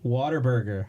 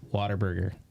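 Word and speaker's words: Whataburger: one and only Jean he said waterburger that's how us locals say it Mary mushies mushies mushies says it gnarly dude shout out to mark for the uh it's waterburger I agree it's waterburger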